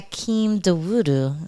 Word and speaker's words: Hakeem Dawodu: Hakeem Dawodu.